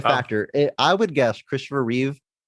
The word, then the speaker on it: Reeve: would guess Christopher reev the most mispronounced name in in in Hollywood maybe Christopher Reeves all the time maybe second to Ralph Phineas but Raph finds yeah yeah yeah that guy maybe he gets mispronounced more but the amount of times I've heard Christopher Reeves Christopher Reeves and seen it spelled out Christopher Reeves it's just reev it's yeah it's pretty